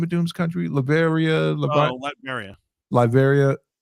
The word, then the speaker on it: Latveria: I was so happy to see, how do you pronounce the name of Doom's country? Latveria? Latveria.